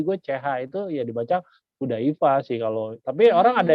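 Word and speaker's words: Chudaifa: Ya sebenarnya sih kalau di istilah sebenarnya kalau ejaan nih, kita ngomongin ejaan, CH itu kan dibaca H aja ya, Mmm, Hudaifa gitu ya.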